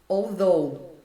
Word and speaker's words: although: Although, ele não aparece.